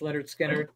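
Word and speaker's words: Lynyrd Skynyrd: number 10 I have Leonard Skinner's first album pronounced Leonard skinnard one of my favorites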